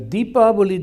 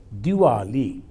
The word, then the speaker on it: Deepavali: The Deepavali, the word they pronounce sometimes as Diwali.